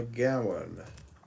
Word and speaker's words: gowan: A gowan. Let's just have a look. Or is it Gowan? Scottish or Northern English, a wild white or yellow flower, especially a daisy. A Gowan. Yeah, a gowan. Rhymes with rum.